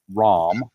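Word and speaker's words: Ram: The first name is spelled R A M. Rom.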